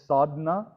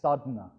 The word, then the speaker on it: sadhana: you pronouncing it as sadhna whereas the word is actually written as sadhana it's sadhna the a sort of swallowed up don't you hate when